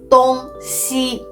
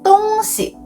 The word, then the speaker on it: 东西: west when pronounced as 东西. But when pronounced as 东西, with the neutral tone on the second character, it actually means things or stuff.